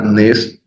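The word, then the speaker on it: נֵס: monosílaba sustantivo hebreo monosílabo la nun la same una vocal Tere vocal larga Tere nes nes nótese por favor es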